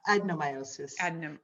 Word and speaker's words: adenomyosis: She's wondering if you've treated someone with fibroids and adenomyosis and early in pregnancy and kind of throughout pregnancy. Like how do fibroids and adenomyosis, I said that correctly, right? Adenomyosis.